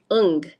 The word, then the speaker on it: Ng: know how to say her name Stacy Williams un is the NG un um she's an artist